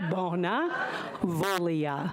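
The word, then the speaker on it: Bonavoglia: how to say it Bona repeat after me Bona volia Goodwill foreign my name is bonavolia -b-o-n-a -silent just scratch it out next time l-i-a I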